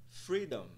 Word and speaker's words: freedom: de pronuncia da palavra nós vemos um apóstrofe logo após a primeira sílaba o que indica que a primeira sílaba será mais alongada e pronunciada em um tom mais alto vamos utilizar aqui um